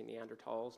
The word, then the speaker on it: Neanderthal: ancestors with species like neanderthals or I should say neander talls now that's the proper way to pronounce it now and then species